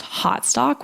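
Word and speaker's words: Haute Stock: so it's spelled like Oak Couture um but pronounced hot stock which I really love um and I've been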